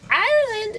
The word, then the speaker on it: Ireland: Ireland, is that how I'm saying it right? Am I saying it right? Like the country, yes.